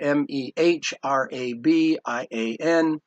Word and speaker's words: Mehrabian: name is spelled there M eh ra b IA n Mehrabian wrote this book on